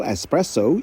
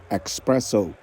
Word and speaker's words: espresso: salah pelafalannya kopi ekstra kental Espresso yang sering disalah lafalkan menjadi expresso dari Washington DC Nova